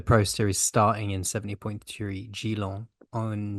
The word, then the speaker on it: Geelong: with the Pro Series starting in 70.3 Geelong on It's January. not French, mate. It's Australia. So come on, get that Yeah, fancy pronunciation. It's Geelong, not Geelong.